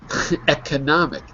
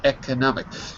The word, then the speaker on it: economic: right the first time the problem is when we speak fast the O softens to an a ecomic if you slow it down it's Echo I was right the